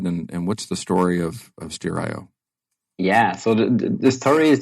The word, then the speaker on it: Steerio: So, Nicolas, you had mentioned Steerio, or how do you pronounce that correctly? Steerio.